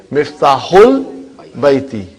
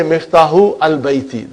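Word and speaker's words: مفتاح البيت: Because al, remember that Hamza is Hamzatul Wasal. If it is in the middle somewhere, we assimilate it. We don't pronounce it. So you will say Miftahul Baiti. You cannot say Miftahu al Baiti. That will be wrong.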